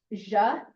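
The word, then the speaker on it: zhe: Ja, which is Z-H-E, is there.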